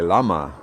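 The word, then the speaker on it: llama: one ah thank you double l in spanish is y sound like lama i don't know hey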